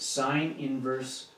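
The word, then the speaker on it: sin⁻¹: 28 that's how you say it sin inverse of 28 it looks like a um a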